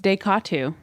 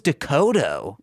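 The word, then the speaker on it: DeCoteau: shoot a movie quickly no it's deatu deatu deatu I thought it was doodo no okay uh-oh then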